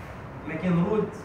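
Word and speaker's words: Mackenrodt: الراجل اللي شافه كان اسمه ماكن رود فمسماه باسمه ماكن رود تي سايلنت تنطق ليجامنت.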